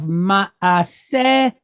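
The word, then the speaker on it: מעשהו: So we have ma'asehu, ma'asehu. All right, you're going to stress the word in the middle because all of these, patah, katef patah, shuruk, these are all short duration vowel points.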